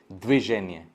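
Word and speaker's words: движение: यहाँ पे देखिए व कभी भी आप होल प्रोनाउंस कर नहीं पाएंगे, द वर्जिन ऐसा आप नहीं कर पाएंगे, तो यहाँ पे व सिर्फ एक हवा, एक छोटा सा हवा।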